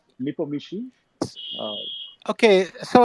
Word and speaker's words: Nepomniachtchi: Nepomniachtchi? Uh, Okay, so I think in the transliteration to English, okay, they put in the CTH or CHT, whatever. They put that too often and it confuses people.